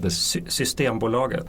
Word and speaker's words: Systembolaget: Systembolaget.